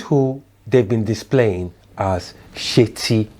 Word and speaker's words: Seti: So he's not Seti or Seti, which is the right pronunciation.